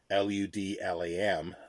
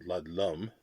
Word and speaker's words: Ludlam: talks about Harry Ludlam's, Ludlam, not Ludlum. Could be pronounced as Ludlum, I suppose, but I don't know.